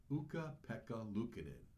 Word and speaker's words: Ukko-Pekka Luukkonen: Alana made a sign for her favorite player, whose name she proudly and correctly pronounces Ukko-Pekka Luukkonen.